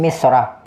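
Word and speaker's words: مصر: Taib, Misr di sini cara bacanya ada 2. Ya, bisa dibaca bertanwin, bisa dibaca tidak bertanwin.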